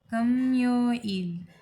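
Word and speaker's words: 금요일: मोग्यो इल Thursday and Friday शुक्रवार यानी खम्यो इल, खम्यो इल, ख नहीं खम्यो इल, खम्यो इल।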